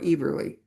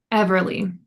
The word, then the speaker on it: Everly: Do we pronounce Saffron's name Everly or Eberly? Everly. It is on Everly.